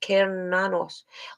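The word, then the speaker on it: Cernunnos: sexualized powers are increased about karanos pronounced keranos also known as Hern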